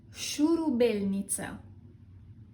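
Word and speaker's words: șurubelniță: The correct pronunciation is shurubelniță.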